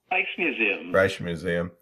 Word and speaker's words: Rijksmuseum: Rijksmuseum.